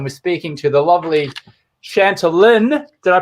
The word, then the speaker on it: Chantalynn: Think of Shanti, like in yoga, Shanti, peace. Yeah. Chantalynn.